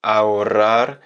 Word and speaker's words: ahorrar: le R, la R, parce que dans ahorrar, on va avoir un double R d'abord. Donc, c'est un R qui est plus prononcé, qui est plus accentué, qu'on va rouler plus longtemps, et un R final qu'on va rouler moins longtemps, qui va être beaucoup plus léger.